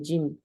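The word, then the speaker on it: جيم: 있죠 영어로는 이제 j 근데 하지만 혀의 위치가 좀 달라요 우리나라 말에 지우로 발음을 하게 되면은 좀 틀려요이 혀의 위치가 어디 있냐면요 쉬쉬 쉬 있죠 쉬 쉬 조용히 하라 갈 때 우 쉬 하잖아요 그 쉬 위치에 혀가 가야 돼요 그래서 쉬 그 혀의 위치를 기억하시면서 지읍 발음을 하시면 돼요가 약간 중간에 이렇게 떠 있거든요네 그 위치에서지 발음하시는 정확한 짐 발음이 나와요 그래서 짐짐네 그리고 두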